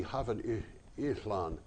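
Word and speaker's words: Hafod Yllan: So the Y is an The Y is actually no. It would be Havod ihlan. Havod ihlan. It's like an I. The two L's is pronounced as an L? No, it's pronounced. It's the only Indo-European language that has that sound, Oh, okay.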